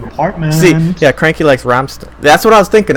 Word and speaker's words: Rammstein: The German lesson, by the way, mostly Americans say Rammstein, but the ST is not sharp. The It's ST Rammstein. is basically Yeah. no, it's Stein. Stein. Yeah. SHT followed by an EI.